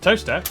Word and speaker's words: Towcester: Mousehole, Next, travel north up to Towcester, Toaster, then a quick jaunt to Gotham, Gotham, followed by a stop in Quernmore, Quorma, before finishing up in Alnwick.